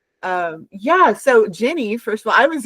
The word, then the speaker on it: Gini: It's Jenny.